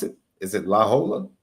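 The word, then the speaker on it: La Jolla: like Le said like Lola how do you pronounce it is it laa it's uh La Hoya La Hoya okay La Hoya like left I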